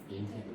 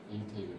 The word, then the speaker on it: 인테그랄: 자, 얘를 뭐라고 읽냐? 인테그랄이라고 있습니다. 뭐라고 읽는다고? 인테그랄. 인터스텔라 말고 뭐라고? 인테그랄.